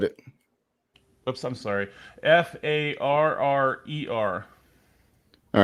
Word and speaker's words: Farrer: Farrer.